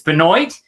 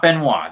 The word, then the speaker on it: Benoit: It's Benoit. It's not Benoit. This isn't the rabid Wolverine.